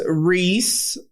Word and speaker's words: Rhys: ] until right now I didn't even know that's how you pronounce that like I don't know what I thought it was I only know because my friend's son is named Reese and that's how they spell it so yeah okay yeah